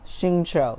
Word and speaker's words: Xingqiu: Xingqiu, that's how you pronounce his name.